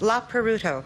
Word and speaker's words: La Peruto: name pronounced right or almost almost la peruto la peruto I see I would